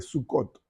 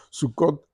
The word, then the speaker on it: Sucot: ahora la celebran la fiesta de sucot así se le pronuncia sucot donde hacen como cuartitos